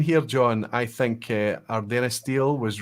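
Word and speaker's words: Ardenistiel: I'll let you pronounce that, John. Ardennastil.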